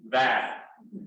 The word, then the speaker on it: Vaid: So just please all know, when you say her name, it's like plaid. It's Urvashi Vaid.